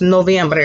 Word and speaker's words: noviembre: We told you earlier that the month of November is pronounced noviembre.